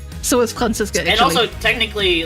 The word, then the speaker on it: Franziska: Franziska, and I'm like, it's pronounced Franziska and not Franziska, but, like, obviously I know people don't know that because that's German.